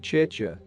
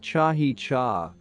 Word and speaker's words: chicha: in existence he said that the making of chicha which is pronounced chi cha but which he pronounced chahi cha an alcoholic beverage made from fermented corn was